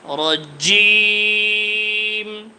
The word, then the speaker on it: الرجيم: أعوذ بالله من الشيطان الرجيم الشيطان الرجيم না জিম শেষে জিম আছে, হ্যাঁ, রজিম। জিমের উচ্চারণ আর একটু শক্ত করেন, রজিম।